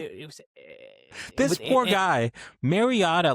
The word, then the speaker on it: Mariota: This poor guy, Mariota, like I haven't watched a full game of his now.